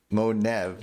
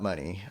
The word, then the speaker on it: Monev: Just watching the homie Monev, not Money.